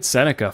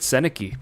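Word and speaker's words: Sennecke: Becket Senica, formerly known as Beckett Senaki before people figured out how to pronounce his name.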